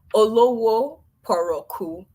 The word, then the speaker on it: Olowoporoku: It's pronounced how it's spelled, but I'll just break it down into the syllables. It's Olowoporoku. Thank you. Olowoporoku.